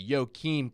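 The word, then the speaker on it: Joakim: him absolutely I will Joachim Kimmel or I'm sorry yokim Kimmel I'm starting to say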